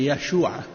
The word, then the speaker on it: Yeshua: Le J n'existe pas en hébreu et en araméen. Il n'y a pas de J. Leur prononciation, je pense que c'est Yeshua.